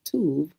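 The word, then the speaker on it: טוב: Uh generally, it's going to be it's going to be pronounced tov.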